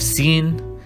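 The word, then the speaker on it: سين: Then we have sin, and we pronounce it like a normal S, like sayyara, which means a car.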